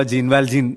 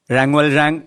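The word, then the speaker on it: Jean Valjean: ഈ റാങ്വൽ റാങ് എന്ന പേര് നമ്മൾ കൂടുതലും കേട്ടിട്ടുണ്ടാവുക ജീൻവാൽജീൻ എന്നായിരിക്കും. അതിന്റെ യഥാർത്ഥ ഫ്രഞ്ച് ഉച്ചാരണം റാങ്വൽ റാങ് എന്നാണെന്ന് തോന്നുന്നു. പുസ്തകത്തിൽ അങ്ങനെയാണ് എഴുതിയിട്ടുള്ളത്. നമുക്ക് റാങ്വൽ റാങ് എന്ന് തന്നെ അദ്ദേഹത്തെ വിളിക്കാം.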